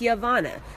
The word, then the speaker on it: Giovanna: it twist it okay my name is Giovanna not Yolanda not Ho Condon not Wakanda not Giovanna is yovanna so those of you